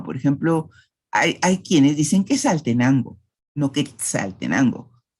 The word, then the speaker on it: Quetzaltenango: Hay algunas personas que dicen quesal, pero lo normal es decir Quetzal, Quetzaltenango. En otras palabras vamos a encontrar la simplificación. Por ejemplo, hay quienes dicen Quetzaltenango, no Quetzaltenango.